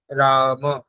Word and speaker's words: रामौ: रामं रामै रामान् ঠিক, রামই নয়, রামৌ, ও, ঠিক আছে। रामौ হুম ঔকার তো সেই জন্য ও উচ্চারণ করতে, রামৌ, রামম রামৌ রামান, ঠিক रामं रामौ रामान् ঠিক ঠিক।